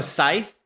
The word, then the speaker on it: Scythe: No, Scythe. I think it's Scythe, not Sey.